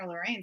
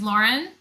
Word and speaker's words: Lorrine: an interview i'm like it's pronounced as lauren do not feel you